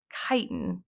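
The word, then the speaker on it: chitin: there's also this is how you say it kiten is how you say that and that's the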